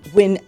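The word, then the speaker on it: Nguyen: Vietnam you have the win Dynasty that's n g u ye n pronounced win and you also have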